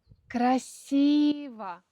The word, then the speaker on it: красиво: Как здесь красиво. Ударение на «и».